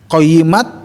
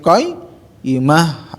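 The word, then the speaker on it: قيمة: Nah, jadi bukan qayyimat tapi qayyimah, ta marbutah diwaqaf menjadi ha.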